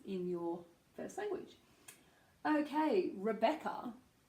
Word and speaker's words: Rebecca: first language okay Rebecca what you can hear the unstressed first syllable Rebecca Rebecca so don't forget the Rebecca and you can hear the stress rode back up I'm really over emphasizing but you can hear the stress in the back okay which is why